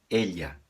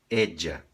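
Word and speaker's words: ella: com dois ls e na Espanha se leria Elia como se fosse um LH Elia Claro esse som pode variar de acordo com o país de fala espanhola por exemplo alguns países falariam Edja Edja na Argentina ou no Uruguai se diria ea ea então nós temos essas variações do som EA Edja e no espanhol da Espanha Elia como o nosso LH já que nós estamos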